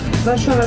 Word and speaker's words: Warszawa: S and Z together is pronounced as sh.